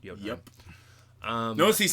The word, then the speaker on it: Jotunheim: There's Jotunheim, or Jotunheim, I think is how it's pronounced. Jotunheim.